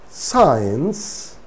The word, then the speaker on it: science: ascend abscess conscious transcend in all these words if we pretend that there is no see and if we read the words the words give us the same pronunciation so here c is silent now where d is